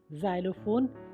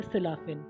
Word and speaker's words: xylophone: XYLOPHONE ज़ाइलोफोन या सिलाफिन, एक तरह का इंस्ट्रूमेंट है, म्यूज़िकल इंस्ट्रूमेंट।